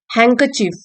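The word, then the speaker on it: handkerchief: हैंकचीफ, D silent है, रुमाल, noun, ये तो सबको पता है रुमाल क्या होता है, ठीक है।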